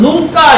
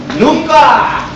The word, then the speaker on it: 누가: 그 발음을 좀 쉽게 하면 눈가 이러면 큰일 나요. 누가.